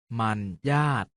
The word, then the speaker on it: มรรยาท: เสียง ว่า จัด สรร มรรยาท ออก เสียง ว่า มัน ญาติ สวรรคต ออก เสียง ว่า